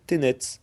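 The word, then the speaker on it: tenez: fois en ancien français l'impératif du verbe tenir se prononcer tnet or au service le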